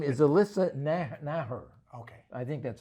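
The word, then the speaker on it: Naeher: Her name is Alyssa Naher. Okay. I think that's how you pronounce it.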